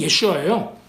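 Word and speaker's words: יֵשׁוּעַ: 이름도 가지고 있고, 왜냐면 예수님 예슈아라는 이름이 예호슈아의 아람어 발음이 예슈아예요. 그러니까는 아람어하고 히브리어 사이에 그 미묘한 차이가 반영이 됐어요.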